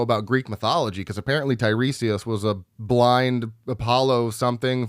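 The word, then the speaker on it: Tiresias: I thought it was Tyrus, but it's Tyresius.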